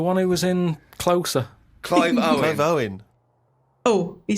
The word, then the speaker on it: Clive Owen: Clive Warren. That's Clive Warren! Who's Clive Warren? The one who was in Closer. Clive Owen.